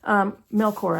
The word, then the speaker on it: Melchor: Melchor, actually, I believe is how you pronounce her name.